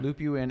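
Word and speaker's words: St. Lupulin: holding what's the bottle it is st. Loup you in is actually how it's pronounced okay loop you in extra pale so I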